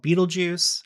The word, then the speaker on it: Betelgeuse: You have the star called Betelgeuse, and yes, that is how it's pronounced.